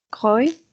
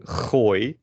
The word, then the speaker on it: gooi: natural than the latter, because in Dutch you can also pronounce the G in the in the softer sense. So you can say G or something like that. So instead of saying gooi, as I would do, you could say gooi. which is also perfectly, that's just a standard pronunciation.